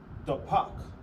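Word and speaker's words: דפק: So knock in Hebrew is pronounced dapak. Da. Pa. Da.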